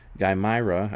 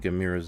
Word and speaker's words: Gaimira: Gaimira, I kept saying by the way, I kept saying Gamira's name wrong last week.